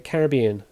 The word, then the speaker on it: Caribbean: Bridgetown is the capital of which island country in the Caribbean? Bridgetown is the capital of which island country in the Caribbean or the Caribbean if you want to say it like that.